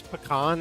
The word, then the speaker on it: pecan: And it's like, it's funny, Wampy, because I know it's pecan, and I just, out of habit, I never remember to say pecan.